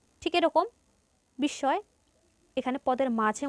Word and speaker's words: বিস্ময়: দ এর দৃত্ত উচ্চারণ হবে পদ্ম ঠিক এরকম বিস্ময় এখানে পদের মাঝে ম ফল আছে তাই স এর দ্বিতীয় উচ্চারণ হবে বিস্ময় এরপর ভস্য স্তুূপ ভস্বস্তুপে ম ফল আছে মাঝে